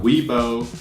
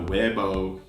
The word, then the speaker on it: Weibo: way way way but it's not we both it's now Weibo its way or B O's or not bow before we wait for